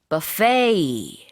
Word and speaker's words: buffet: 그런데 같은 스펠링으로 buffet 이렇게 발음을 하면은 우리가 흔히 말하는 뷔페예요. 뷔페 식당 있잖아요. 그러니까 B-U-F-F-E-T 스펠링은 똑같지만 뒤에 T 발음하지 않습니다. 불어 발음을 조금 살려주는 건데 buffet 이렇게 합니다.